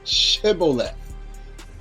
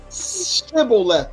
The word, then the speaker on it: Shibboleth: They were forcing, and the Benjamite couldn't save his own life because he couldn't say Shibboleth. He speaking Hebrew he couldn't pronounce the sheen correctly.